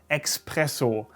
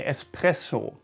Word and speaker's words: espresso: word and germans call this often at least expresso context beta an expresso like it's an express or something very fast